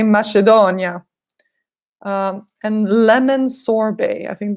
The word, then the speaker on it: macedonia: Italy they say it's something different they say mushy Danya and lemon sorbet I think this you understand